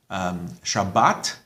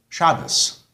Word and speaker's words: Shabbat: Now, you'll also notice that in some of these pronunciation differences, it has to do with the final letter sound. Shabbat and Shabbos.